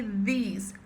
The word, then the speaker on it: these: Então, é this e these. These tem que ter aqui a língua no meio dos dentes, tá?